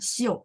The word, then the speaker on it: 修: Oh iya benar ya, Xiu. Berarti ini bacanya nada 4 Bu.